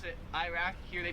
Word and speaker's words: Iraq: The next two are countries, so Iraq, we pronounce it Iraq. Here they pronounce it Iraq. Like we say I, they say Iraq, Iraq.